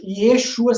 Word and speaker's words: Yeshu: No aramaico pesado dos galileus, porque os galileus falavam um aramaico mais pesado, seria Yeshu. Yeshu.